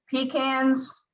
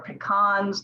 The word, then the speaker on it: pecan: can get through it pecans or pecans depend on where you live is how you say it they are actually very